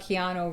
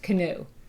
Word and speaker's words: Keanu: time like 20 years he thought keano Reeves was prod pronounced canoe so he would call